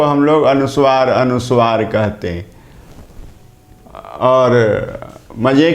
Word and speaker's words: अनुस्वार: को हम लोग अनुसार अनुस्वार कहते और मजे की बात तो यह और कष्ट होता है कुछ लोग अनुसार भी बोलते हैं यह नहीं करना अनुसार वास्तव में वीरवार